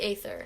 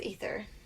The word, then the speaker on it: aether: is all about the aether yeah yeah yeah i thought it was ether because of the way it's spelled i e i thought